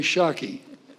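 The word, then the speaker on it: Schake: Corey Shockey. Did I pronounce that correctly?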